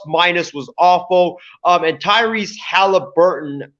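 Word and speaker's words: Tyrese Haliburton: was awful um and tyrese halliburton is that i think that's how you pronounce his name tyrese halliburton the guard out of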